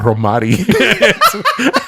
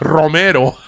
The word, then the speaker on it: romero: For the Spanish, longest time, I thought that rosemary was romari. It's romero.